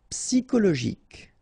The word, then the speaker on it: psychologique: Okay, remember it's an exception here because you've got this C-H-O. Normally we should pronounce it sho, okay, but in that case we pronounce it ko. Psychologique. Remember, final Q-U-E like that, K.